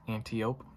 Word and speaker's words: Antiope: This one is pronounced Antiope, kind of like antelope, only without the elu.